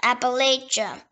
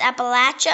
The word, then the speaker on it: Appalachia: Appalachia. It can also pronounce Appalachia or Appalachia.